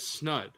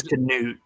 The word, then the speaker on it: Canute: And I pronounced that as Snud. And it's Canute.